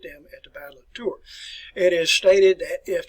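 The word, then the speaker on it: Tours: s on the end of tour it's just pronounced as the battle of tour and this was a bible took place about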